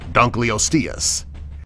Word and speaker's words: Dunkleosteus: Dunkleosteus don't call osteus man it's not difficult to pronounce it correctly this creature lived during the